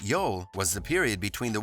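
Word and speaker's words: jól: the viking yule feast yule sometimes spelled j-o-l and pronounced yol was the period between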